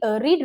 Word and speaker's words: read: फ्लाई का हो गया रीड, रीड, रीड, रेड, रेड, रीडिंग। ये जो है ये स्पेलिंग सेम है, READ, READ, READ, लेकिन इनका प्रोनाउंसिएशन क्या होता है, बेस फॉर्म में रीड, पास्ट फॉर्म में रेड।